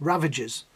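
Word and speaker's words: Ravagers: say it sound wrong it's ravages i know they sound like ravishes just my pronunciation is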